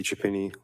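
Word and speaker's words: Chiapini: My name is Chapini. Last name is spelled C H I A.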